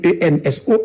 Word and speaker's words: Enso: Comment ils ont arrêté Enzo Etienne? Ils ont arrêté Enzo Etienne, non écrit ENSO, Enzo, les gens disent mal prononcé, c'est pas Enzo, c'est Enzo, ENSO.